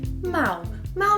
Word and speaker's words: mal: ‘Mal’ is often used as the opposite of ‘bem’. As you know, most Brazilians pronounce the final - l sound as ‘u’.